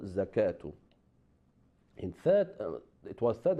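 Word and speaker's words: زكاة: So whenever we have on the top of waw that alif maqsura, that waw is silent, and instead of waw we pronounce alif, like salatu, zakatu.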